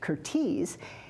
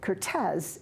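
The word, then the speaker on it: Curtiz: and while his name is now almost universally pronounced curtis he pronounced it cortez as it was pronounced in his native hungary and i know how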